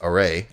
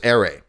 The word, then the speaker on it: array: when I you know heard the pronunciation of it and it's array I get it uh it doesn't matter in my formative ears my brain knows that word is aray I used to get